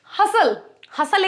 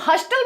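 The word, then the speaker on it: hustle: तो हसल, अब हस्टल भी तो बोल सकते हैं, बट you know the letter T is silent.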